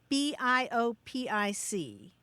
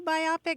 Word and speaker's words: biopic: the way you do biopic but the vast majority of folks say biopic and that's because it is indeed a biographical film It's a combination of uh the bio from biographical and pick is in